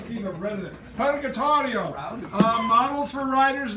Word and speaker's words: Purgatorio: Purgatorio, thank you. I couldn't see the red of it. Purgatorio.